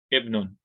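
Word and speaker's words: ابن: If the Hamza Talwasso is by itself, like in this scenario, ibn, it's not part of alif lam, then we're going to pronounce it with the kasr. Ibnun, ismun.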